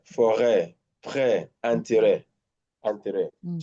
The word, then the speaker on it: forêt: That tells you already that is what? A. Yeah. Arrêt, forêt, prêt, Mm-hmm.